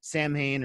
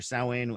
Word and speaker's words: Samhain: was the misfits then he did samhain or sowein however you want to pronounce it and then he was